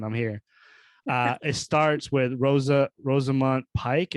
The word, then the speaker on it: Rosamund Pike: It starts with Rosamund Pike. Is that how to say her name? Pike, yeah.